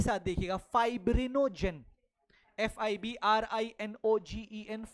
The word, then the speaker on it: fibrinogen: फाइब्रिनोजेन, globulin, एल्ब्यूलिन।